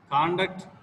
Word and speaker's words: conduct: Can you give one example for word stress? Object. Object means aim or goal. Object means to restrict. Conduct and conduct.